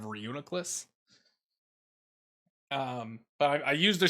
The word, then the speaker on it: Reuniclus: re reuniclus excuse me it's not one of the most difficult to pronounce pokemon for me i always want to say re-nucleus instead of reuniklis um but i used